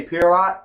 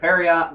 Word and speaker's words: Pierrot: It's spelled like Pier or Rot, so I'm going to say Pierrot. I'm sure other people, there's plenty of people say Periot, but, whatever about that nonsense.